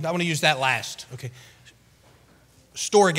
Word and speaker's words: storge: use that last okay storge is is the way it's pronounced it looks like storage right storge the greek word describes